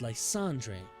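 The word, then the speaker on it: Lysandre: Their group was led by a man named Lysander. though it may have been pronounced Landre. Historians aren't sure.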